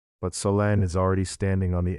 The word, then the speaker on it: Solène: You are going to step inside the shoes of Solène. Solène is a French origin name, pronounced Solène, a 26-year-old woman living in a small foggy city near the ocean.